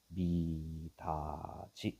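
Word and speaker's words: 미닫이: 그럼 얘는 어떻게 돼? 미다지 이렇게 되겠지. 됐어요?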